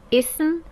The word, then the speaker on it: اسم: But I would like you to pronounce in Arabic. harf, ism, fi'l.